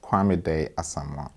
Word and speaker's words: Kwame: can you start with your name and uh spell it as well please okay my name is quam k w a m e a s a